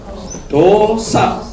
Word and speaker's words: dosa: And now, D-O, we say O. O, you have to pronounce O. Dosa.